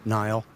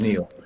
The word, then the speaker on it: Niall: Nile. Shall we? Uh, it's pronounced Neil.